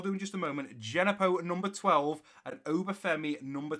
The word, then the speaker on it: Djenepo: The right mid, who is actually a left mid that we play out on the right, whose name is Djenepo, it's pronounced Genepo.